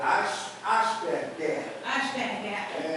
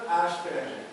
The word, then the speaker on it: Asperger: Se for a pronúncia alemã, é Asperger. Se for a pronúncia alemã. Se for a inglesa, Asperger.